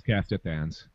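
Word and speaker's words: Castithans: I don't remember how they're pronounced. Yeah, it's Kestithans.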